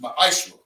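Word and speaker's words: מעשר: Means 10th in Hebrew and is pronounced ma'ashra.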